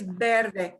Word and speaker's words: verde: or- Es verde. The V will sound like a B, and we'll kind of check that out.